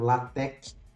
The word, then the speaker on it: LaTeX: livros clássicos de introdução, eles fazem questão de dizer como é a pronúncia da palavra. Então, para que a gente retifique com relação às aulas anteriores, o termo correto é latec.